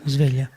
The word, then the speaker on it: Sveglia: right pronunciation? Okay. Sveglia.